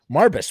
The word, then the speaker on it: Marbus: Marbus, how do you say your name? Mar, like Mars bar. Yeah. And then bus. Like you Marbus. Marbus, what an interesting name.